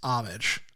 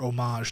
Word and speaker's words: homage: I think my director's shoes overall comes back to that word derivative versus homage. Or homage, depending on how you want to pronounce it.